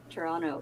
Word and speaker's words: Toronto: right you're Toronto yes it's so funny when Americans say toron Toronto because they say it with a t yeah Toronto yeah because it's it's you say it like Toronto Toronto it's like one word or one one syllable Toronto ton ton well